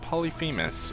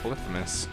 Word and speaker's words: Polyphemus: open up anything and polyphemus or polyphemus depending on if you want to say it correctly or if you want to say it the way most people do so now we're basically